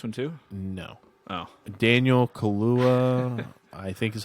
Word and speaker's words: Kaluuya: Daniel Kaluuya, I think is how you pronounce his last name.